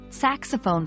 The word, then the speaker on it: saxophone: Stress is on the first syllable of saxophone and the first syllable of player. The X in saxophone has a Z sound, like in xylophone. Remember to pronounce the O in saxophone as a long O, as in phone.